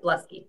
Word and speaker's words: Bluskey: excited to welcome Bluskey. by the way I kept pronouncing your name differently last week how do you pronounce your last name? Exactly right, Bluskey yep.